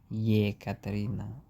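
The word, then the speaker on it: Екатерина: Yekaterina. Itu E depannya, tapi dibacanya Y.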